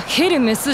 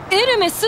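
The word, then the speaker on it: エルメス: ですね、あのブランドはヘルメスじゃなくてエルメスって読むわけでして。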